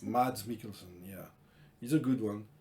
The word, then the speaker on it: Mads Mikkelsen: guy who played hannibal in the series come pronouncing his name is mads makers mads mikkelsen yeah he's a good one he's good he's